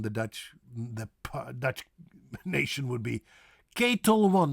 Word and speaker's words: Ketel One: A famous vodka from the Dutch nation would be Ketel One, not Kettle One, but Ketel One. A-E-A. Ketel One. Ketel One, not Kettle One, but Ketel.